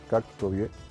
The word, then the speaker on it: Kok Tobe: el nombre del lugar, Cactobié, como se pronuncia correctamente.